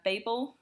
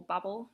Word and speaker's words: Babel: other things so I have modules related to Babel or bubbles depending on how you pronounce it so babel is why i use